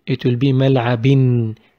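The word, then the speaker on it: ملعبٍ: When we make a double haraka on B, it will be mal'abin. It will be written with double haraka, but pronounced with n.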